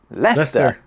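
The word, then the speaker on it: Leicester: we're not interested but we are interested in leester it's named after a Celtic tribe and to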